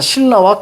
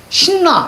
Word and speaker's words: 신라: 자, 신라와 칼날 한번 봅니다. 김열의 칼날. 자, 신라 갑니다. 이거를 발음할 때, 신나 이렇게 발음하면 안 돼. 알겠죠? 신나 이렇게 발음하면 안 돼. 자, 이거 어떻게 발음해요? 그래요, 신라요.